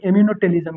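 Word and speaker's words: ammonotelism: सब अलग अलग प्रोनाउंसिएशन करता है। एमिनोटेलिज्म, हाँ, तो हम लोग क्या कहेंगे, एमिनोटेलिज्म, क्या, एमिनो एमिनोटेलिज टेलिज्म एमिनोटेलिज्म।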